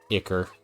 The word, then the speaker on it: ichor: Because they stick you with ichor. And I like rhymes too much to let that go to waste. Okay, more palladium. I've always pronounced it as Icar, so you're correct.